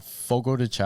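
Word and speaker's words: Fogo de Chão: It's called Fogo Decha.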